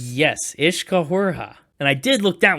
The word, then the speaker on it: Uiscefhuaraithe: Is that how that's pronounced? Yes, Uiscefhuaraithe.